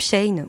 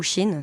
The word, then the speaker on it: Shein: Je parle bien sûr de ce moment où Facebook, ce saligo, nous affiche une pub Shein ou Shein, ça dépend de ton degré de fashionista et de prononciation.